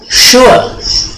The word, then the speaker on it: sure: S yang kecil itu tipis sama dengan SY. Jadi itu bacanya sure. Ya, jadi bibir kayak ikan mas. Ya, sure. Are you sure?